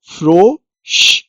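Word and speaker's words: Frosch: श की आवाज आएगी क्योंकि एस सेहा श की आवाज प्रोनाउंस करता है एफ एर ओ फ्रो श फ्रोश नेक्स्ट एग्जांपल है मश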